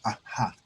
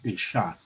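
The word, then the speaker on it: אחד: Y el término hebreo para uno es Ahad, o otros lo pronuncian Eshad.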